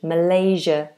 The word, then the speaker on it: Malaysia: And this is a a voiced fricative sound. Malaysia.